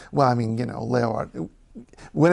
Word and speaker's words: Leeuwarden: In the north of the country, Leeuwarden. Leeuwarden. That's not too hard at all, is it? E-E-U-W is pronounced eu.